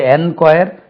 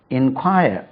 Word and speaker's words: enquire: inquire INQUIRE ரெண்டுமே ஒரே உச்சரிப்பு தான். இது என்கொயர், இது இன்கொயர் கிடையாது. ரெண்டுமே இன்கொயர்.